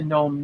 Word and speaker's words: gnome: And then the punchline is, "No, I'm Nick the Gnome Ninja," and it's has all the silent G's. And he says the G is silent, just like my movements.